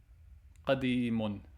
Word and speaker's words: قديم: Qadimun.